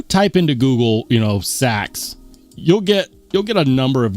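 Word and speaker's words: seax: with me about, and so I just started saying it, I just started pronouncing it like sax, is it's another way to pronounce it is sayax. Pronounce. Yeah. Yeah. But everyone pronounces it sax, so I've just adopted that. Yeah.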